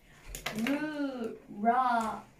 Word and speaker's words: rural: rural っていう発音です。